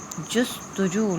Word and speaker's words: جستجو: جستجو لفظ ہوتا ہے جست اور جو ہوتا ہے، جست اور جو. ٹھیک ہے. جیم پہ پیش اور سین پہ جزم اور تے اپنا تلفظ خود واضح کر رہا ہے.